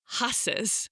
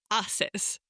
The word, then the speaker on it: haces: Spanish, we don't say haces, we say haces, because we don't pronounce the H in Spanish. It's silent.